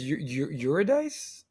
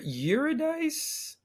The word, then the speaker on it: Eurydice: maybe, and helped me with my bad Greek pronunciation. Yeah, Orpheus and Eurydice, Orpheus, and I think it's Eurydice.